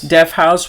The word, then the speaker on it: Deathouse: Death House with one H. Okay. So, de house if you if you're spelling it phonetically cuz it's not death its own word and house its own word. There's only one H.